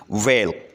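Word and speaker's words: whale: Next word है वेल। ठीक है, वेल एक मछली का नाम है, तो इसमें एच लेटर साइलेंट है।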